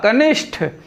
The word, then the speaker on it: कनिष्ठ: कनिष्ठ, कनिष्ठ, टा और ठा का यहाँ जो है अशुद्धि है, तो यहाँ टा के बजाय क्या हो जाएगा? ठा, कनिष्ठ।